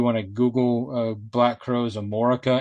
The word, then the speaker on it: Amorica: If you want to Google Black Crowes Amorica, and I am saying it right, I'm not mispronouncing America. They spelled it Amorica.